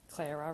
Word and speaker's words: Clara: Clara rhymes with Sarah.